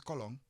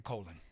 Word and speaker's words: Colón: My last name is Colón, with the accent on the second O.